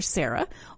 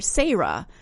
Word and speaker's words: Sarah: from in Appalachia that there are two ways to pronounce my name it's either Sarah or sah and he just wanted